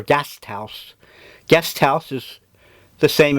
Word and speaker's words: Gasthaus: They pronounce it more or less guest house or Gasthaus.